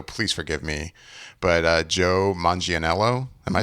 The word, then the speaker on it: Manganiello: But Joe Manganiello, am I saying that right? Manganiello. Yeah. I've Manganiello. heard it. I've heard it. I feel like I've heard it pronounced 2 or 3 different ways.